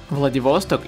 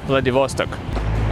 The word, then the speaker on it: Vladivostok: every day the devos talk take a lot of really different ships oh interesting fact in russia we say vladivostok but in english we pronounce vladivostok vladivostok railway station was designed